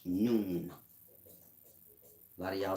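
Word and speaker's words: Nun: This is nu or none. I say noon. N-U-N, none. It's pronounced noon.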